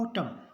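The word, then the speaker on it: autumn: एन एन जो है एम एन यदि हो तो एन साइलेंट रहेगा एम का उच्चारण होगा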